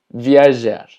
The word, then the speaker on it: viajar: Viajar, recordando que la J es una J, que se pronuncia como Y, y tenemos voar, que significa volar.